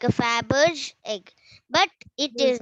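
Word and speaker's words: Fabergé: do we pronounce that word it is called faberge how do we pronounce that word it is called faberge i'll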